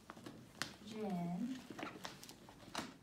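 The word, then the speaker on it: 人: Например, вот этот иероглиф, он читается как Жен. Жен.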